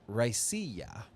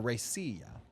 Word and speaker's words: Raicilla: Only 4 distillers are certified in the world to make this style of spirit, and it's a Raicilla, or a Raicilla. It's spelled Raiciall.